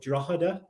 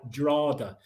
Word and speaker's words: Drogheda: butcher the pronunciation, but Drogheda. Perfect. Spot on. Yeah. So that's how they say it in Dublin. If you go there, they say it more like Drogheda.